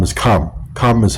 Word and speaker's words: Ham: See, the Hamites, how you say Ham is Khe'm. Khe'm is how you say Ham.